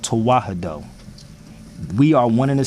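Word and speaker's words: Tewahedo: to practice true Christianity there is a term called toah and I'mma spell it for everybody very slow it's original Christianity in Ethiopia it's called tah it's spelled t e w a h e d o look it up the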